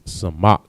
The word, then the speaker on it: samak: And the word support in Hebrew is samak. Sa, ma, and ka. All right. Samak. Next word we have surround.